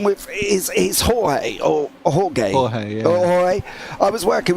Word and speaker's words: Jorge: Jorge, yeah.